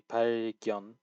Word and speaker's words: 발견: So this vowel specifically, 발견. So this gyeon, he seems to just be completely skipping the gyeon, like, and just 발견할 instead of 발견.